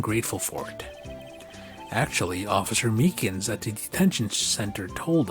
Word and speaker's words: Meekins: Actually, Officer Meekins at the detention center told us. Ah, that poor little doggy. Poor guy. I keep on getting his name wrong. I keep on calling him Meekly.